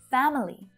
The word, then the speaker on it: family: schwa syllable in there family sometimes i say it like this too so it's not wrong but most of the time native speakers will reduce it down to just two syllables because it's more efficient